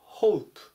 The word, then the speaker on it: hope: ます 348 板 hope hope 発音に注意ですホープって伸ばさないで法務部と読みます同士だと望む